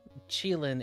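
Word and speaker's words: Qilin: Oh, Chile is the when I actually read the page, uh, Chilean is how you pronounce it.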